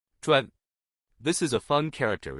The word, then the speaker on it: 专: In today's video, we'll teach you the Chinese character for expert pronunciation. Chuan.